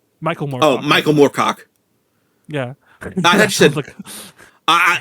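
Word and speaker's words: Moorcock: michael moore oh michael morcock yeah i i did not hear you pronounce it properly i thought you either said warcock or my [ __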